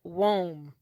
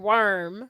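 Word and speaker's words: Woim: the club's rivals and neighborhood bullies, Buck, and Wome. Wome. I call them two bullies. Just sum it up. Because his name isn't Worm.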